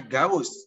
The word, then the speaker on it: gauche: Tulisannya Gauche, tapi bacanya Gauss.